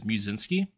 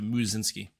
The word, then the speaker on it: Musinski: the name uh people didn't know how to pronounce my last name which is musinski and it's uh so they just call me instead of muzzinski interesting okay well that's